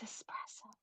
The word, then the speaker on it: espresso: It's espresso.